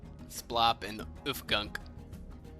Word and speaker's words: Splop: S P L O P.